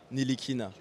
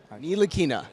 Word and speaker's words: Ntilikina: Okay, my name is Frank Ntilikina. Ntilikina. The T is silent.